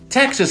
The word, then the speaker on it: Texas: And then when it went into English, that X became pronounced like an English X instead of like a Spanish X.